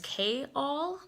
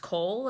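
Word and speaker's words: Chaol: From the Throne of Glass series, I always thought that his name was K-All, but it's actually just pronounced Cole, and I did not know that until I heard Sarah J.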